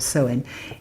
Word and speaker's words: Samhain: unless I know it says Samhain but it's pronounced sullen or sowing is Halloween which in Wales is not coming